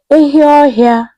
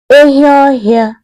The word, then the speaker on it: Anụọhịa: Rhinoceros in Igbo language is called Anụọhịa. Anụọhịa. Pronounce it. Anụọhịa.